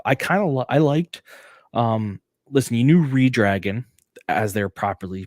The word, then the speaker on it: ReDRagon: Listen, you knew Redragon, as they're properly pronounced, was going to come down and attack.